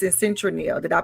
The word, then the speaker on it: Citronelle: It's in Citronelle. Did I pronounce it right, Apostle?